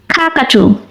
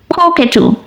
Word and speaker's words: cockatoo: Cockatoo. Cockatoo. দুটি উচ্চারণই correct. American অ্যাকসেন্টে বলা হয় কাকাটু আর ব্রিটিশ অ্যাকসেন্টে বলা হয় কোকেটু।